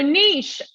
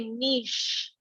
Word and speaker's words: niche: So niche, listen to how I pronounce this. We pronounce it like the French. We say niche. We pronounce it with that soft CH that you don't often hear in English, but we pronounce it niche.